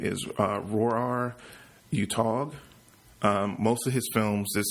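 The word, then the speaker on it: Roar Uthaug: started becoming an adventure movies directed by her pronounces of name correctly he's an oral norwegian director his name is roar are you tog most of his films this is his first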